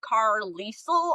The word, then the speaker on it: Carlisle: I think the ending, how it's spelled, Carlisle almost. I think that ending, being said phonetically as Lyle is an Irish, sound.